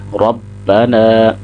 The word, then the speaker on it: ربنا: آگے تحمید یعنی ربنا، یہاں پہ اکثر احباب یہ غلطی کرتے ہیں کہ نون کے ساتھ الف کو نہیں پڑھتے، ربنا، تو صحیح تلفظ کیا ہوگا؟ نون کو 2 سیکنڈ لمبا کریں گے، ربنا، را کو موٹا کریں گے کیونکہ را کے اوپر